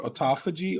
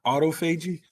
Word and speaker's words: autophagy: is referencing is called it's actually pronounced two different ways it's either called autophagy or autophagy and i hate the